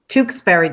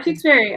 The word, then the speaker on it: Tewksbary: Tewksbary, just like the town, but spelled a little different.